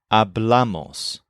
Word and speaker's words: hablamos: In fact, most of the present tense forms put the stress on the first syllable, the stem, all except for hablamos. So we have hablo, habla, hablas, hablan, but then hablamos.